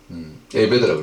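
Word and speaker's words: עֶבֶד: 이거는 히브리어로 에베드라고 그래요. 에베드. 요거 동그라미 점이 3개 있으면 에 발음이 나오거든요.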